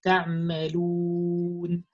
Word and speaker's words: تعملون: circle your lips correctly, because with the wow you have to round your lips. You say تعملون تعملون. When you don't say that, you're gonna pronounce like a semi wow, which doesn't exist in Arabic. You're gonna pronounce the letter O. We don't have the letter O in Arabic. We just have the letter U with this sound. So you pronounce something like تعملون It's not O.